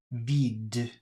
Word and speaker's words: vide: vide, Vide. That's V-I-D-E. Vide. coupe, Coupe. It's C-O-U-P-E. Coupe. 44. Listen again to these words. Is the final E pronounced? Date, vide, coupe. The answer is no.